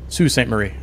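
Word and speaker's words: Sault Ste. Marie: however you say it archetype can correct me but uh s like Su Sue St Marie okay Sue St Marie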